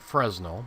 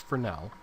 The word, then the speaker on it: Fresnel: It looks like Fresnel, but it's pronounced Fresnel.